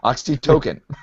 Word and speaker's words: oxytocin: Oxytocin.